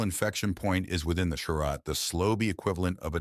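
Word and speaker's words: Cha'Rat: "Also, it's pronounced charat and chinura," All Lady says after a moment, and he gives her a look.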